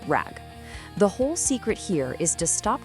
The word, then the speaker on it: RAG: Yeah, pronounced rag.